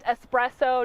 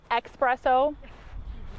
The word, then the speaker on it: espresso: you find out that it's actually pronounced espresso not expresso or it's i couldn't